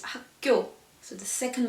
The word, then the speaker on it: 학교: We don't say 학교, but it's 학교.